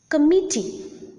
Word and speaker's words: committee: committee deliver committee deliver there are three syllables and the middle syllable or the second syllable is the most prominent syllable and hence the second or the middle syllable is the stressed syllable in these two words let us take a